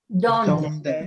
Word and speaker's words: donde: Donde. Donde. Donde. And notice no silent E at the end.